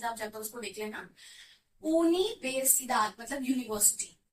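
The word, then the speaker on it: universidad: नहीं, स्पेनिश में pronunciation different होती है, जो हमने आपको अल्फाबेट की वीडियो में सिखाई थी. जिसने नहीं देखी होगी तो प्लीज आप जाकर उसको देख लेना. यूनिवर्सिदाद मतलब यूनिवर्सिटी.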